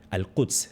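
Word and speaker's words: al-Quds: Eh, quieren recuperar al Kuds. Se dice en árabe, no se dice Jerusalén, es una palabra islámica para la ciudad de Jerusalén.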